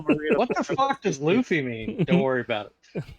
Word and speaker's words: Luffy: How do you pronounce his name? Is it Luffy? Yeah, Luffy.